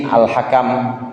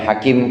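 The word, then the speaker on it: الحكم: khalilullah atau Al Khalil ini al-hakam bacanya bukan Hakim karena kalau Hakim itu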